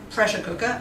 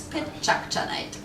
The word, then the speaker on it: PechaKucha: a tongue breaker and many people don't know how to pronounce it we don't mind be creative with it but what it doesn't mean it's not pressure cooker it's not machu picchu and it's not projector night it's pitch challenge that's right and over